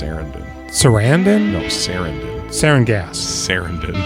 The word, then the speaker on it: Sarandon: Yeah, it's pronounced Sarandon.